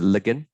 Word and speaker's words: ligand: is that is the ligand okay some people pronounce it looking doesn't really matter same thing we good